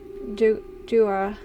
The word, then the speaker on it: Dua: Pronounced Dua.